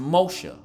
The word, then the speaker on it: Moshe: So that's why Moses' mother called him Moses, or it would have been pronounced Moshe.